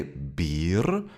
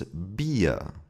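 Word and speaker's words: Bier: In all other situations, the R is pronounced like a short uh and this phenomenon is called the German vocalic R. And it's not difficult to pronounce. Let's have a look at an example. Beer. We don't say beer. It's also not beer. And beer is also wrong. The correct pronunciation is beer.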